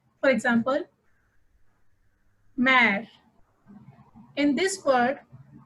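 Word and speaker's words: mère: For example, mare. In this word, E has an accent grave over it, so it is pronounced as A. So, mare, which means mother.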